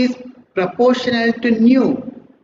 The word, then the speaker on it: nu: See here, E is proportional to nu, pronunciation NEU.